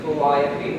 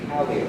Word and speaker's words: Calliope: We don't say Calliope, we say Calliope, which is again just a strict transfer from French.